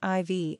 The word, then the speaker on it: Ivy: In the late 1970s, Roche's elder son, George IV, known as Ivy, pronounced Ivy, attended the college.